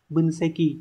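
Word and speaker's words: 分析: Phần gạch chân là chữ phân và chữ tích, như vậy sẽ đọc là bunseki.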